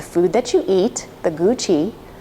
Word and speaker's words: Gu Qi: that you eat, the Gu Qi (phonetically: goo chee) which is a great word